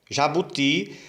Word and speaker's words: jabuti: Jabuti é uma oxítona terminada em i. A sílaba mais forte é a última.